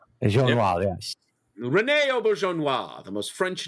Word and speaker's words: Auberjonois: Auberjonois. Jean Noir, yes. Rene Auberjonois, the most French name that can possibly exist.